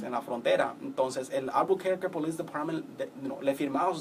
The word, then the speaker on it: Albuquerque: Albuquerque?